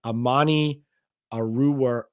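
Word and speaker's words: Amani Oruwariye: They had Amani Aruwariye, I think is how you say his name, with the Lions.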